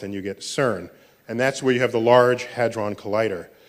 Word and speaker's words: CERN: So CERN is how you pronounce the word, which I think in French, that's the sequence of words, but in English, it's the European Center for Nuclear Research. You swap some letters back and forth and you get CERN.